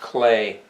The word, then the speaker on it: Klee: Paul, now that looks like Klee, doesn't it? But that's not how it's pronounced. It's pronounced Clay. The E's are an A sound.